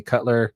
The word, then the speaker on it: Cutler: I kept calling you Coulter, by the way, last time. So glad you made it. I was worried that you didn't come back because I was mispronouncing your name every single time.